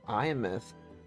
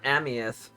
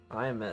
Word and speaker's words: Imeth: Oh, she pronounces it Iamith. I was calling her Amieth. Iamith.